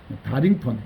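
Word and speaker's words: Darlington: 그래서 이 달링턴은 우리 한국식 발음이고, 그러니까 이러잖아요. 오마이 다링 이러잖아요. 그죠? 그래서 이걸 그냥 다링턴, 이 달링턴이라고 안 합니다. 미국 애들은. 그러니까 다링턴 이렇게 말합니다.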